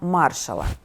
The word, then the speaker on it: Маршалла: говорять про так званий план Маршалла Саме так з наголосом на перший склад або ж програму відновлення